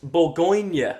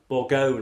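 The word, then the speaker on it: Bourgogne: the Memoirs of Sergeant boronia I believe it is pronounced or borgone or something of that description um the final g is silent um this is an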